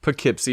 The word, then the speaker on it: Poughkeepsie: Poughkeepsie, yeah, but you emphasize "poo".